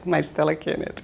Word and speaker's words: Maristela Kenner: Doutora Mari Stella Kenner, tá certa? Isso, a pronúncia, doutora? Isso, é de origem alemã mesmo, Maristela Kenner.